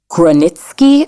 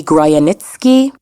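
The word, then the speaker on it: Grojanowski: In 1941, an individual, Gronitsky, I believe it's pronounced, or it might be Groyanitsky, escapes from the Chelmno death camp and makes his way to the Warsaw Ghetto.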